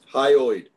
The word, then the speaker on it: hyoid: Hyoid.